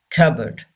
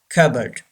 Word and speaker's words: cupboard: boat a strong cupboard P is silent P is not pronounced cupboard say this world cupboard next we do men